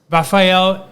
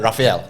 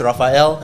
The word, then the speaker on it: Rafael: a manager of spinoff singapore polytechnics entrepreneurship center raphael thanks kevin thanks thanks for thanks for